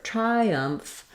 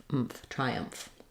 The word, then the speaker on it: triumph: something to notice um between the I diphthong and the schwa the uh sound in the second syllable you will have a little bit of a Glide yeah Glide happening there Triumph Triumph simply because as I move from that I vowel shape to the uh shape that Glide naturally connects those two that's called vowel to vowel linking Triumph um and then